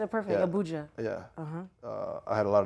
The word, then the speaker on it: Abuja: Sorry if I'm pronouncing it bad. No, you said it perfect. Yeah. Abuja.